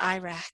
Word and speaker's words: IRAC: after a little mnemonic kind of named after the country of Iraq and but we pronounce that Iraq and so it's IRAC